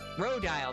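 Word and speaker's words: Rodyle: Maybe it's the mannequin that Rodile is Rodile, that's how you say his name, is building.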